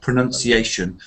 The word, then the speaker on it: pronunciation: this is another thing sometimes a common mistake is to combine those two words pronounce and pronunciation one has an uh and one has an ow so how do you